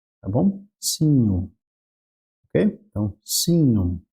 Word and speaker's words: signum: Esse encontro consonantal, ele vai ter um som de NH. Tá? Então, em vez de ser signum, vai ser um signum, tá bom? Signum, ok? Então, signum é a primeira palavra nossa ali.